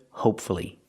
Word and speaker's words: hopefully: Let's practice with hopefully. Again, hopefully. Three syllables, pronounce the U.